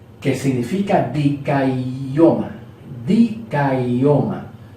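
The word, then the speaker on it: δικαίωμα: Dikaioma, se pronuncia dikaioma, ¿ok?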